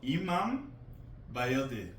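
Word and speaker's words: Imam Bayıldı: It's a little bit harder to pronounce. Okay. This is called Imam Bayildi.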